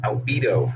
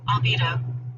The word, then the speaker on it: albedo: The first notice you'll get when you come in the editor is, what is albedo? And actually, let's pronounce this correctly here. I found it. Albedo.